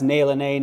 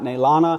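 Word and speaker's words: Naylene: It's Nay Lene, not Naylana.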